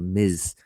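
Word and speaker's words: Ms.: a Mrs uh or I said misses but they're actually a Miz a Miz is generally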